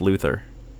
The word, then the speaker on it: Luthor: i was always i always thought it was pronounced luther that's what i thought too not lex luthor